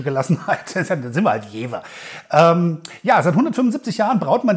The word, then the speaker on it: Jever: Das Jever Pilsner ist ein Pilz, das mit 4,9 Volumenprozent Alkohol gebraut ist.